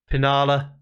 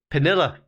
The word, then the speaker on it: Pinilla: genesee at the back pinala pinilla i should say is the correct pronunciation there ball out to